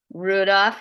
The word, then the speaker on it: Rudolf: Better, folks here, Rudolph, like the reindeer, Stingel.